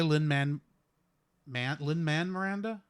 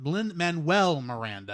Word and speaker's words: Lin-Manuel Miranda: These songs were made by Lin-Manuel Miranda. That's not how you say his name. Lin-Manuel Miranda. That's it.